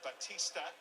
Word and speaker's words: Batista: There is Fernando Batista. There we go. I did actually pronounce his name right. A bit like the wrestler name Batista, Dave Batista, but in no relation of course before you all ask.